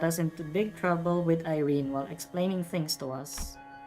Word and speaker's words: Irene: Did you know Irene pronounced her name as Irene? Irene. Irene. Okay. It's Irene.